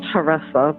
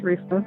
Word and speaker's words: Taressa: pronouncing your name right it's actually paressa teresa people say theresa oh i am so